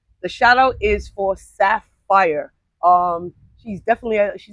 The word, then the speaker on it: SAAFYR: The shout out is for Sapphire.